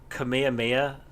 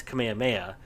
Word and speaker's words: Kamehameha: should play it again some people have said that you pronounce Kamehameha as Kamehameha but I've always found it you pronounce it like that when you are saying the name of it to somebody but when you use it as an attack you do Kamehameha and if you're supposed